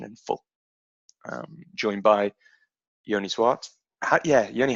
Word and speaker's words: Zwart: We say it here in the Netherlands. We say Zwart.